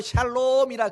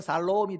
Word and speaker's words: 샬롬: 만족할 때까지 살아가는 거, 이걸 샬롬이라 그래요. 발음을 좀 잘못하면 살롬이 돼버려요.